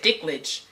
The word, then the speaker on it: Dinklage: At first I said it wrong. Dinklage. I said Dinklage, and so it's Peter Dinklage. Yes. There's an N, not a C. So yes, Okay. I got it right on the second try.